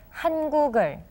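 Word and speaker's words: 한국어: you remember for example when the word hanguk is followed by the word e we end up with hangul right and when u follows this word we have to pronounce it as han guger so when the patching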